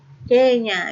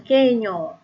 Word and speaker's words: Kenya: Kenya ya, bukan Kenyo.